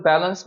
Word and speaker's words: balance: 그래서 우리가 보통 어 어떤 사람들이 이걸 밸런스라고 읽기도 하고 이제 밸런스라고 읽기도 하는데 여기 강세가 있으니까 bance 힘줘서 읽어야 되는 거죠 bance 그래서 balance work and play 되는